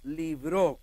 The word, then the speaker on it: libró: Dice en el verso 10, el cual nos libró, con acento en la O, que quiere decir que Dios nos libró ¿cuándo?